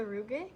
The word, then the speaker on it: rugae: Is What's it the rugae? Rugae. You gotta roll your R's.